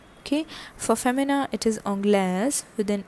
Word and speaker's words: Anglaise: Okay, so the pronunciation is Anglais, Anglaise, Anglais, Anglaise. Okay, next one is Spain, and Spain is known as Espagne.